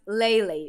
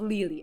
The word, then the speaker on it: Lily: And just as an FYI, Lily is pronounced Lele, not Lily.